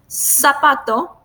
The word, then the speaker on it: zapato: So you don't pronounce the Z in a different way. You just sounds like an S. Zapato, silencio.